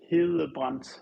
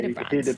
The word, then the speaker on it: Hedebrandt: Okay, so in Danish it would be Hedebrandt, which in Danish you have like this soft pronunciation of a D, but in English we just say Hedebrandt.